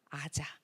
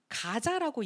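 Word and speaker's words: עזה: 아자예 마부 그리고 아자 우리는 가자라고 얘기를 하는데 여러분 가자의 히브리어 이름이 아자 있니다네 그래서 유대인들은 가자라고 하지 않아요 요즘에 전쟁 때문에 굉장히 많은 인터뷰들이 나오잖아요 그 사람들의 인터뷰를 들어보면 전부 다 아자라 발음합니다 저는 이거를 딱 보는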